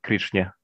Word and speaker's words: Krishna: When in this case we say Krishna.